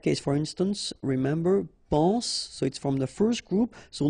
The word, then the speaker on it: soit: Okay, then of course être and avoir, so être will become soit, remember final S is not pronounced, soit, then soyons, soyez, all